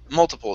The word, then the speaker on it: multiple: Multiple. So we do need to pronounce this T sound instead of pronouncing a flap T.